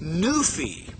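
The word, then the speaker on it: noufi: the late Egyptian nephru was rendered neufai n-o-u-f-i pronounced Newfie the name Nephi is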